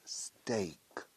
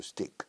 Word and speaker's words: steak: Se pronuncia steak. Se escribe steak, lo sabrás seguro. Pero la pronunciación es steak. Steak. What's the first letter in the English alphabet? A. A, B, C, A. Steak. Remember. Por aquí en este país se dice mucho stick.